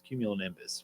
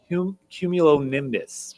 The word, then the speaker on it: cumulonimbus: And then the bonus one I gave you is the thunderstorm cloud, which is cumulonimbus, which is one that not everybody says. But how do you say it? Cumulonimbus.